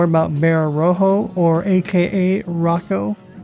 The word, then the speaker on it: Rojo: And then this is from a poster right here pronounced Rocco. So Bear Rojo likes to be called Rocco apparently.